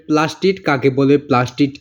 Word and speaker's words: প্লাস্টিড: বোতল ওইটা কিন্তু না প্লাস্টিড ওই প্লাস্টিক না এটা প্লাস্টি ডিড প্লাস্টিড লাস্টে ড উচ্চারণ হবে তো আশা করি বুঝতে